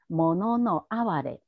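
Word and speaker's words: mono no aware: 那我们看物哀啊，这个物哀呢，在日语的发音是 mono no aware 啊，mono 就是物啊，aware 就是哀的发音。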